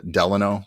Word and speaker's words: Delano: Her name's actually Delano, as in Roosevelt.